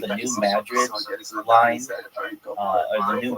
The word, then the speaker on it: New Madrid: of like uh what's New Madrid uh Missouri and if you're like why are you calling Madrid and not Madrid. It's not pronounced like Madrid like in Spain.